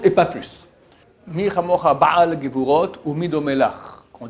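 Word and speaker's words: בעל: Il faut faire attention de bien prononcer le aïn de ba'al, ba'al, et non bal. Bal signifie en hébreu qui n'a pas.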